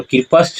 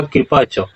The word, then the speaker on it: कृपश्च: और कृपश्च नहीं होगा, उच्चारण क्या होगा कृपच।